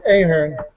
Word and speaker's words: Ahern: It's Ahern. Ahern. I thought it. Okay, I was correct. The old Irish way.